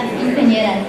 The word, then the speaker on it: Quinceañera: La Quinceañera. Is that right? Did I say it right? Yeah, you say it for me. I'm a PE teacher and coach. La Quinceañera.